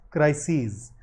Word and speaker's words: crises: The plural of crisis is spelt with an E, and this ES is pronounced as ease. So crisis, crises.